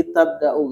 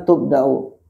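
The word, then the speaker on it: تُبْدَأ: Wahiya allati tabdau kan sebetulnya tubdau. Nah itu belum bisa merasakan dia dibaca majhul.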